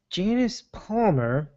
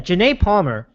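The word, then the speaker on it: Janay Palmer: Showing Rice throwing a haymaker at her fiancé-to-be, and let me see if I can pronounce his name correctly. It is Janice Palmer, or Janae Palmer. Yeah, Janae Palmer in the elevator.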